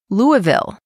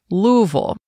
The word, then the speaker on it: Louisville: It's actually only about an hour away from the most populous city, Louisville, or as they say there, Louisville, which is home to the famous Kentucky Derby horse race.